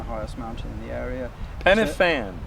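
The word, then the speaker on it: Pen y Fan: panoramic view looking at penan the highest mountain in the area penan penan pan a single F in Welsh is pronounced v ah a double F in Welsh is pronounced F very interesting okay very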